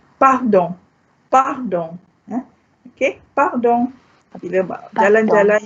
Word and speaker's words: pardon: Pardon means pardon me. Okay, I share with you this word because it's the spelling is just like English, only with a slight difference in pronunciation.